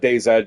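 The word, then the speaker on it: DayZ: want to pronounce it I call it day Zed just because in Canada uh we pronounce her our Z as an uh Zed so that is uh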